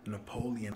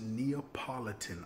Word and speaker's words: Neapolitan: last vlog you know that I just learned Napoleon ice cream is actually pronounced Neapolitan ice cream but here's my follow-up question for